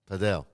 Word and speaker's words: padel: What do you think about paddle which we need to make sure we pronounce it right? Padell, otherwise we're gonna get bumped from the Padel community.